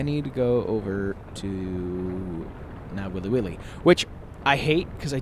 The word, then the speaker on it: Nawiliwili: that's Hilo I need to go over to now willy willy which I hate cuz I don't think I'm pronouncing it correctly and the last thing I